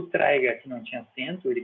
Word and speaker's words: traiga: vogal certo traiga traiga não é traar é traiga que é o verbo trazer traer traiga só que